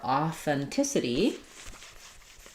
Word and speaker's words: authenticity: And then for authenticity, um, we stress on the t syllable. So, third to last syllable.